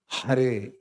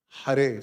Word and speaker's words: Hare: My point is that Hare has to be that ha has to come out very clearly. Hare. Hare.